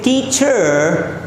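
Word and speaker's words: teacher: टीचर means ये च पर एंड हो जाएगा, आर आपको नहीं प्रोनाउंस करना है।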